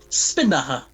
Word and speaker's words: Spinnahhs: oh ok challenge yes the h is silent i was going for that as well i was going for that as well oh bugger yeah isn't it spinner the way you pronounce